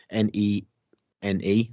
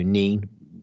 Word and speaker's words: Nene: It's a place called Nen Training, Nene, so Neen. You might pronounce it if you're from Peterborough, but if you're in Northamptonshire, it's Nen Training.